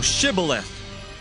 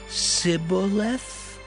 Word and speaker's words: Shibboleth: If he said, Nay, then said they unto him, Say now, Shibboleth. And he said, Sibboleth? For he could not frame to pronounce it right.